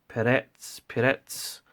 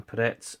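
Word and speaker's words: перец: Now, I might be wrong. Peretz, I believe is the pronunciation, Peretz, and it's a black ground pepper.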